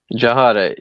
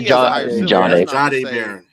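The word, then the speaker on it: Jahdae Barron: I still give it to Jahad Barron. Is that how you say his name? In the NFL? Jahade. Really good. Just say Jahade Barron.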